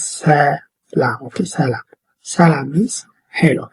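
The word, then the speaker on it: ሰላም: And this one is also in Amharic, but I have written in English for you to pronounce it, okay? It says salam, okay?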